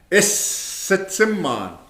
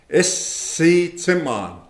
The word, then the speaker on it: Isitsimman: Isitsimman. Isitsimman. Okay? The first part of that word, ISS, it's the same sound you would make for kiss. Take out the K and you have is. Isitsimman.